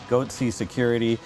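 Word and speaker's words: Goatse Security: Goatsy Security would expose the gaping security holes in your systems.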